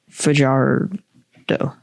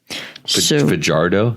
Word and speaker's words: Fajardo: Fardo. Fajardo. You sure about this? No. Not. Spell it. F A J A R D O. F AJ faj. Okay. A r o.